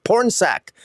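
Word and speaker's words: Pornsak: like I'm insulting the person and I'm actually pronouncing their name correctly porn sack that's his first name porn sack you're the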